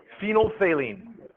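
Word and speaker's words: phenolphthalein: say produces a gas phenol phine this is how you pronounce that phenol phenol phine where's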